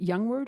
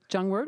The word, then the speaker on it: Jongewaard: No, but I heard there's going to be Ian, is it Youngward or Jongewaard? Jongewaard, okay. I would have said Youngward, but I will pronounce it, I figure you know.